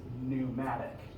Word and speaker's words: pneumatic: this and that is pneumatic if you've heard the term pneumatic before it's got the silent p on the front p n eu that refers to basically